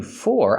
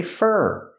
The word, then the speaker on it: for: When I say thank you for, I don't say for, I say fur, because it's not stressed.